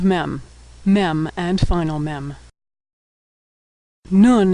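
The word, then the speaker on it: נון: Nun is pronounced N as in November.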